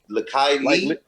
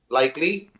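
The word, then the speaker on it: Lykke Li: Drake was that I don't know how you pronounce her name, but Lakai Lee, Likely, yeah, Likely.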